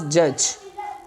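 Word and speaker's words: judge: mind one जी followings जब डी के बाद जी आ जाए then D will be silent D के बाद जी हो तो डी हमारे पास क्या होगा साइलेंट हो जाएगा जैसे हमारे पास जज ठीक हो गया अ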